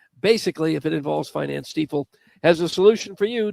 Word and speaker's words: Stiefel: You said Stiefel. Some people still say Stifle, and they're wrong. It is Stiefel.